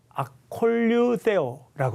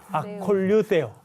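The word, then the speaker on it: ἀκολουθέω: 이 따르다라고 하는 단어는 헬라어로 아콜류세오라고 하는 단어인데 아콜류세오. 쉽지는 않습니다. 아콜류세오. 그 어려운 뜨 발음이군요. 네, 세오 발음이 들어가 있습니다.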